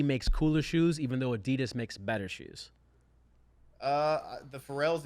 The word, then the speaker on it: Adidas: they're sponsored by Adidas, or Adidas is apparently the correct way to say it. In America, we say Adidas, but it's actually supposed to be pronounced Adidas.